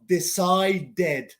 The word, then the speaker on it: decided: Decided, D-E-D, decided.